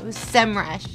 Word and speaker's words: Semrush: m rush or semrush or sem rash no semrush how do you say it we thought it's about time to reveal the truth let's see who got it right pretty sure it's pronounced sam rush so charlie what do you call it is